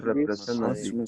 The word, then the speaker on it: representative: Cut out the letter T. Okay, cut out the letter T. Don't pronounce it.